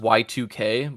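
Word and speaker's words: YIIK: no it's like well it's pronounced y2k but it looks like y-i-i-k oh that's that everyone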